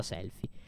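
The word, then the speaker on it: Selphie: cellulare, ma lei è Selfie, scritta Selfie con la PH, Selfie. Si pronuncia Selfie. Voi siete la squadra B?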